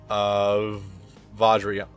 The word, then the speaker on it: Vajrayana: There is Xyz, but I'll probably go with Vajrayana. Probably should go with that. I'm pretty sure the J is pronounced like a J because because there's the things called Vajra.